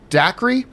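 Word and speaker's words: Dacre: to pronounce tarses first name it's gonna say daiquiri daiquiri Montgomery R de coeur your eye view put your right that is dick it's de coeur that is the proper pronunciation that's right Montgomery Naomi Scott a Lu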